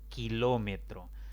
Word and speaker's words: kilómetro: Kilómetro. Otra palabra de 4 sílabas. La mayor intensidad de voz recae en la antepenúltima sílaba.